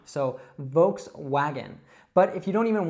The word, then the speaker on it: Volkswagen: Now, it's really important that you pronounce that W not as a V sound, but as a W sound. So, Volkswagen.